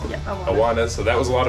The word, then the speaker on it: Awanas: Is that how you pronounce it? Yeah, Awanas.